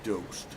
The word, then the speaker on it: dost: Dost is pronounced dost and means friend in Erdo and Punjabi. Thanks a seafo or is it is it a soft door as in doast like toast?